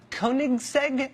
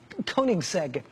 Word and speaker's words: Koenigsegg: some swedish thing called the koenigsegg i think that's how you say it k-o-e-n-i-g-s-e-g koenigsegg he had one that